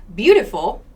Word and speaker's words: beautiful: So beautiful has this schwa sound. Unstressed syllables, no stress on the word, take this schwa pronunciation. Here, t, that's the schwa sound. It. That's what it sounds like, beautiful.